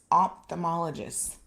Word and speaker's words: ophthalmologist: it ophthalmologist ophthalmologist yes i was not pronouncing the ph i was going straight from the o t h it's ophthalmologist and that is more what